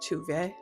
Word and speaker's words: Tove: It's spelled Tove, but it's pronounced Tuve.